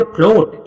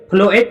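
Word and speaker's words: float: तो अब देखो ओ के तुरंत बाद अगर ए आता है तो उस समय ए का प्रोनाउंसिएशन नहीं होता है। ए के लिए कुछ भी उच्चारण नहीं होता है। वो लिखा हुआ है बेचारा लेकिन पढ़ा नहीं जाएगा। तो इसको क्या पढ़ोगे? फ्लोट। ए को पढ़ा है क्या? बिल्कुल नहीं। फ्लोएट नहीं पढ़ रहे हैं।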